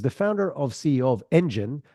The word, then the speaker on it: ENDGN: Our guest today, Aaron Steele, is the founder of CEO of ENDGN, which is spelled ENDGN, but sounds like a car engine or a growth engine if you want, is a content lead generation ninja.